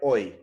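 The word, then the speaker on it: hoy: know how to write oi they don't know that it's pronounced as yeah h-o-y they don't know that right you're saying that because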